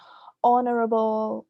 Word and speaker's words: honorable: So the H, silent H's, that's one common pronunciation error. honorable, honesty, and then hormones.